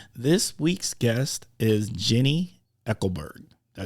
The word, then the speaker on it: Eickelberg: And so, without further ado, this week's guest is Jenni Eickelberg. Did I say that right? Close. Eickelberg. Eichel. Like Eichel. Eichel. It's German. It's hard.